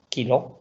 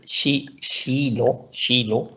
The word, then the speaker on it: kilo: Shilo, kilo, shilo, pero se dice, en sueco se dice shilo.